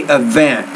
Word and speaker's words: event: say that words say event so put the stress on the second syllable so the event even